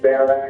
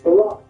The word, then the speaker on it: Barack: Oh, that could definitely be arranged if you're being serious about it, Baron. It's Barack. Why do you keep mispronouncing my name?